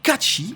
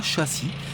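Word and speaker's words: Cait Sith: Ça se prononce Catchy et non pas châssis, c'est un chat et pas une voiture.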